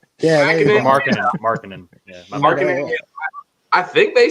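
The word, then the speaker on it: Markkanen: Their Lauren Makinen. Markkinen.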